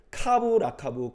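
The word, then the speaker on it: קו לקו: 경계의 경계를 더하고 교훈의 교훈을 더하고 이게 히브리어로 읽으면 이런 발음이 난다 그래요. 차부라차부 차부라차부 카부라카부 카부라카부 그러니까 우리가 이렇게 말 그러는구나 이렇게 말하는 거죠.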